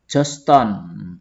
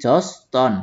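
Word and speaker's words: Georgetown: Lalu ada yang terkenal lagi nih di Malaysia yaitu Joston. Tulisannya kok Gergetown ya bacanya, tapi Joston ya.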